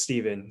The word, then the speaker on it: Stephen: So, but yeah, it's pronounced as Steven.